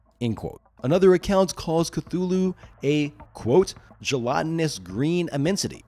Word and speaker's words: Cthulhu: typing in the comments about my pronunciation of Cthulhu, probably saying that I'm not saying it correctly. But honestly, even Lovecraft couldn't. Admitting that humans couldn't truly say it because it's just too alien. Anyway, for sanity's sake, I'm going to pronounce it the way that most people on the planet Earth say, Cthulhu.